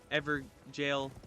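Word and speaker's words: Evergaol: There is a Ever Jail. Some people say Ever Jail. I say Ever Gold because that's what it's spelled like. But it's up to you, up for interpretation.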